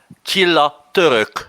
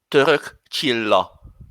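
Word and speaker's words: Török Csilla: It's Chilla Turk. Oh, good grief. You see, I'm getting so much pronunciation shaming in this show. What is it with you all? Could you? Well, because Chilla is Hungarian. Okay. So you better pronounce it with a proper Hungarian accent. Right. Well, can you repeat it then? Let's have a second go. Török Chilla. Yeah, like that.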